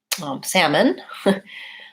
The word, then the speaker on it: salmon: can talk today about there are a lot of words like for example salmon or calm where I don't pronounce any L for those it does